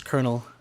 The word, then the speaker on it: Colonel: It is Colonel. I know it's not spelled like Colonel whatsoever.